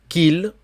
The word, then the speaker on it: qu'il: Faut-il qu'il, attention, le U, le Q, U, le U ne se prononce pas. Je ne sais pas pourquoi les Espagnols prononcent le U, puisqu'en espagnol, on ne prononce pas non plus le U.